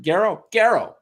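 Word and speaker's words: Garo: Garrow.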